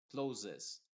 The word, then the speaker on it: closes: pronunciando como Z inglesa watches closes aquí las dos s están sonando como una Z closes danes la primera c